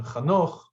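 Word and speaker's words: חנוך: regarding Noach's great-grandfather, who was, in the Hebrew pronunciation, Chanoch, and the English pronunciation, Enoch, I think they say.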